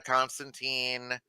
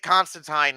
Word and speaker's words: Constantine: they actually pronounce it constantine in this show which is the actual proper like british pronunciation um and that's really